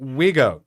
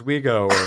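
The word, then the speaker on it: Vigo: Ghostbusters he's seen it Wego you got to say it as Wego or else get mad he's seen it he's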